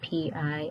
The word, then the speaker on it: Pillai: Pillai. I believe that's how you pronounce his name. It's Pillai.